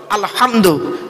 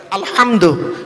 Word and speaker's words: আলহামদু: ভালো করে ফলো করুন আলহামদু আলহামদু হাউজ নয় গলার ভেতর থেকে এটা উচ্চারণ করবেন আলহামদু আলহামদুলিল্লাহি রাব্বিল আলামিন এর